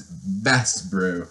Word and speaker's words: basebro: And it's a noun, and you can pronounce it in the French origin as best bro.